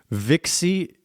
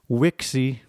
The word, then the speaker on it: vixi: The internet just told me how to pronounce that Latin word vixie. That's ecclesiastical Latin. The V sounds like a V. Vixie. And in classical Latin, the V sounds like a W. Wixie.